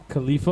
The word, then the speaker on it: Khalifa: Khalifa. Kelifa. Am I pronouncing that right? Khalifa? Khalifa, okay.